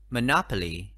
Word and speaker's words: monopoly: Christmas Christmas number five monopoly monopoly từ có bốn ăn tiết mà nhỏ hả Lê Trọng âm đánh vào ăn tết thứ hai mới nó thử lý